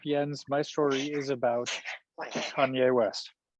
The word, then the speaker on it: Kanye: Kanye, all right. What's going on with Kanye? Or Kane, as you say, right? I love it when you pronounce his name first, because then I can remember how to pronounce it. You can echo. You're good at the echoing. But if Yes. I were to give you this story, you would probably have diverted back to Kane, wouldn't you?